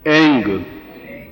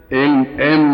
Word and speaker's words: ऐं: अब हुम इसमें म आया है और श्रीम रीम क्लीम इसमें आया, केवल एक जगह ग आया है एंग। ठीक है, उच्चारण समझ गया? एम नहीं बोल सकते, एंग।